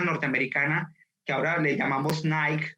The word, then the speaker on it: Nike: nike o nike y realmente el nombre de la de la compañía norteamericana debería ser ni que por él sí sí pronunciáramos el nombre de la diosa no él no con acento anglosajón sino con el origen etimológico de la palabra que en este caso